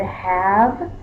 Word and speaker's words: have: not how we spell the word have we use the silent e does the silent e make the a say the a Sam no it doesn't the only reason the silent is there